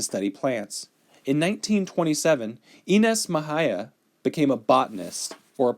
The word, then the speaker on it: Mexia: Oh, see, I did mispronounce her name. It says right here, Ynes Mexia, not Mexia, Mexia. Ynes Mexia.